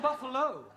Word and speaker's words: buffalo: a big bull oh Buffalo Carol confused yeah words that end in o like Buffalo or radio or vertigo you pronounce the O but when there is no o you don't add one understand yes I give up